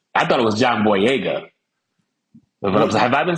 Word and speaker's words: Boyega: You just gotta throw the vowels out there. Boyega. Just as long as you extend them vowels, you're gonna be A-okay with it.